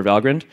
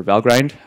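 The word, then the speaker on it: Valgrind: also recently we have integration for valind or Val grind depending upon how you want to pronounce it so mem Che checking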